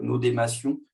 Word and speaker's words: n8n: ça avec un outil qui s'appelle Nodémation. Ça s'écrit N8N et qui me permet de faire des workflows.